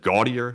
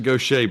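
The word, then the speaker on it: Gautier: gaudier I think like I had no idea how to pronounce it it's actually like French or something but it's actually Goshay believe it or not I saw some people mispronouncing it like I did yeah it is Goshay it's French um and so it's it doesn't have a conventional English pronunciation it is a French pronunciation uh also that goes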